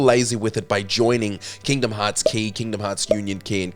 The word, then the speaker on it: Kingdom Hearts χ: Kingdom Hearts Key, often incorrectly pronounced Kingdom Hearts X, sets the earliest mark